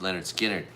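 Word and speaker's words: Lynyrd Skynyrd: Sade, Ziggy Marley, I wish I could say it was Bob, Van Halen, and pronounced Leonard Skinner.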